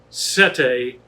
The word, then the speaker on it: Sette: life chose me uh first of all it's pronounced sete as for the meaning sete does mean seven